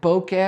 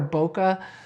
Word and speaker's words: bokeh: Depending on how you want to pronounce it, bokeh or bokeh. Bokeh comes from the Japanese word bokeh, which means blur or haze, or bokeh aji, the blur quality. Bokeh is pronounced bokeh or bokeh.